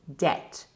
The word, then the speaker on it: debt: don't pronounce it pronunciation debt the B is completely silent it's very common for